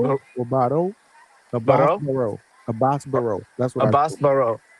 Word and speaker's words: Baraou: Baraou, Abass Baraou.